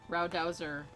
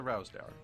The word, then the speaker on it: Rowsdower: Oh, that one has Rowdowser slippers. I always would say it wrong, and Justin finally corrected me, and I'm like, I don't know, it's a sheep. It's a very bored sheep. It's a Rowsdower, yeah.